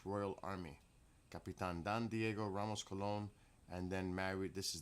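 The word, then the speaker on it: Colón: So English version is Diego Columbus, but it's Diego Cologne in Spanish.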